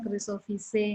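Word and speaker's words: Chrysophyceae: Makanya saya koreksi kalau EAE itu dibacanya Chrysophyce ya.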